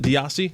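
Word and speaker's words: Desai: defensive coordinator sha diasi that's how you pronounce it diasi think so yeah DEA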